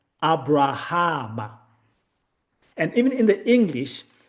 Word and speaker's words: Abraham: to pronounce it as Aba Raba Amma. That ba in the middle was swallowed so that the name comes to us as Abraham and even in the